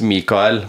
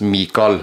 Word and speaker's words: Mikael: Yeah, and you know, in proper Norwegian, it's Mikael. But in Østfold, or what is now called Viken in Halden, we say Mikael. Yeah. The E is silent, so it's Mikael. That's a very Eastern way of saying it.